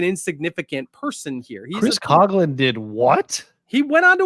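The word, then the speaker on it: Coghlan: the Year it's well it's Chris cogin first I I was just gonna let you continue to say it wrong okay um is I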